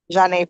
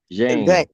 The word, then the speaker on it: Janae: Janae. Yeah, I knew it. But Mr. Bukovich was telling me it was Jane.